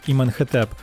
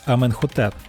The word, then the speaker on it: Аменхотеп: імен використовують інакше прочитання наприклад ім'я іменихтп яке згідно з діючими єгптологічними нормами мало б читатися як іменхетеп традиційно вимовляється Аменхотеп але частково звучання слів